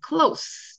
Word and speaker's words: close: 의미에 이제도 있잖아요 닫는 그 철자는 똑같은데 발음과 뜻이 달라요 그래서 이런 걸 이제 동철 이의라 하는데 발음을 그래서 구분 하셔야 됩니다 어이 가까운이발소 발음한다고 생각하시는데요 그 경우와 대서 close 이렇게요 close close friend